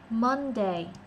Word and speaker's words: Monday: Không phải là mến như trong tiếng Việt hóa mến được, mà là Monday. Mến thì nó hơi mến mến này. Hơi ê một chút xíu, chị đừng có ớ quá.